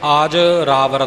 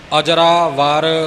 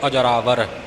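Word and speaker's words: ਅਜਰਾਵਰ: इस बंधक पाठ ने आज रावर नहीं आज रावर पाठ नहीं करना अजरा वार संबंक न जोड़ के अजरावर जिव गुरमुख ने पाठ कीता है य उच्चारण अजरावर य इसका उच्चारण होवेगा त अजरावर अमृत सब चालन हारी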